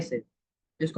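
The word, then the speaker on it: psi: denote करते है साइ से इसको हम बोलते हैं साइ प साइलेंट होता है अब य ये है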